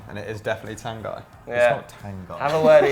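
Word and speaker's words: Tanganga: lazy how's it going he's pronouncing his own name wrong and it is definitely tan guy yeah have a word of yourself i think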